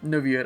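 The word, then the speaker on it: Neuvillette: My boy Novlet, or Niet, I should say, because that's how he's pronounced in French.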